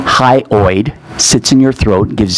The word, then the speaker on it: hyoid: miss Ford for me you said it right high high oid sits in your throat